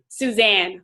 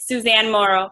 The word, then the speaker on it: Suzanne Morrow: guest speaker was um Susan I don't never know if I say it right Suzanne or Susan Morrow um Suzanne okay Suzanne Morrow she was awesome she